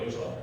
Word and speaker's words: 여호수아: 여호수아. 구약에서 히브리어로 여호수아 이렇게 발음이 되고요. 헬라어로는 예수 이렇게 되는 거예요.